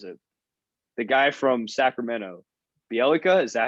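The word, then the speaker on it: Bjelica: getting beyond was it the guy from sacramento bielika is that how you pronounce it yeah bialika right dude and it didn't part ways with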